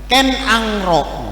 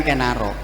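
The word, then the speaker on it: Ken Arok: ya Tumapel ya bukan Tumapel ya Tumapel kalau bacanya Ya karena kalau kita ngomong sama orang yang ahli diakritik aksara jawa Wah ya Ken angro Wah iya bukan kenaro Ken angro dan Kendedes bukan Kendedes soale aksara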